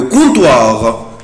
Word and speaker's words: comptoir: le comptoir le comptoir le comptoir le comptoir. الكاونتر طبعا انا بنطقه ازاي يا اولاد؟ بنطقه comptoir le comptoir le comptoir. طبعا ici je ne prononce pas la lettre P.